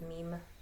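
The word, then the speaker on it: Mîm: so and you were right yeah it is meme yeah somebody needs to start a meme about how you pronounce meme's name I was wondering how we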